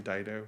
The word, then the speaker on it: Dido: Her name Dido. Yeah, Dido.